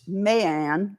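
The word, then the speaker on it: Mary Ann: the natural that is illegitimate son of William Willie Armstrong and Maryanne pronounced Mayanne Albert in Jane's alley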